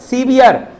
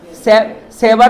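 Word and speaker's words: severe: क्या पढ़ेंगे उसको? सीवियर सेवर नहीं पढ़ देना सीवियर का स्पेलिंग नीचे वाला गलत है।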